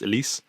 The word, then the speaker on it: Alice: elise braga uh i i know it's it says alice apparently is pronounced elise uh who's playing sol